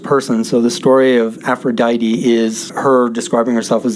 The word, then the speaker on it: Aphrodite: is a pronunciation guide aphrodite rhymes with mighty they do that for